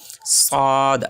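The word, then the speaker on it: ص: জিহ্বার আগা সামনের নিচের দাঁতের গোড়ার সাথে লাগায়া উচ্চারণ হবে সদ সদ।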